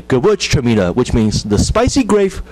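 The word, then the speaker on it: Gewürztraminer: It's called Gewurztraminer. Gewurztraminer. So we kind of divide into two parts of letters. Gewurz is the first part. The Traminer is the second part.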